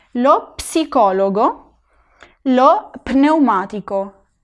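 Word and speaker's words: pneumatico: En italiano no, en italiano se tiene que pronunciar lo psicólogo, lo pneumático. En español esta P en español diríamos neumático. En español no se pronuncia, pero en italiano sí, lo pneumático.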